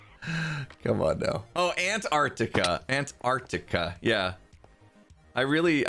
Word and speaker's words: Antarctica: on now oh antarctica antarctica yeah i really i really enunciated the the t's and that was what skis went on about antarctica ant arc tick uh yeah words english